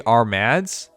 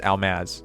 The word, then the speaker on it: Armads: By the way, I say, you think it's supposed to be Armads, which I understand, but because of how Japanese people talk, I heard it pronounced as Almaz, so that's why I've been saying like that. People question me on that, but it's the R and L thing in Japan that really messes things up.